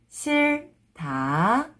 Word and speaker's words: 싫다: First consonant sound, l sound. 싫다. 싫다. When you read it together, you have to pronounce this sound.